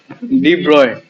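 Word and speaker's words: de Broglie: से देख class 11 chemistry में नहीं मिला डी ब्रोगली डी ब्रॉय की दीप ब्रॉय ब्रोगली डी ब्रॉय pronounce की गम पावर है बुक का एक्सरसाइज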